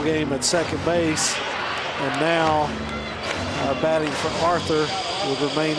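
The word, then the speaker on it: Nau: And now batting for Arthur will remain in the game at catcher. Spelled N-A-U, pronounced now, as in right now.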